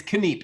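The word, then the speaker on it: Kneip: Is it Neep or Nipe? It's Kneep. It's an easy way to remember is I like to say this is Kneep, Kneeping it real.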